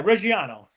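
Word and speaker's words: Reggiano: Yes, but how do I pronounce it again? Parmesano. Reano. Yeah, Reano.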